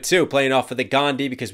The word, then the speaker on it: Gandhi: And the bar before that was just as good too, playing off of the Gandhi, because we don't pronounce the H in his name, Ghandi.